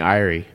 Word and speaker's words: Eyrie: It's in the Eyrie. Yeah. Erie? Eerie. Eyrie. I said Erie, yeah.